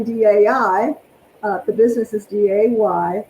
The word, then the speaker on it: Dai: The business is D-A-Y. It's pronounced D-A-Y. It's spelled D-A-I.